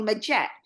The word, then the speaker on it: Majet: here in America in the Philippines call me maette and now you know I use that more